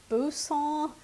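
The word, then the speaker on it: Boursin: some of this right here which is a Busa cheese cheese that's how it's pronounced and I'm going to stir that in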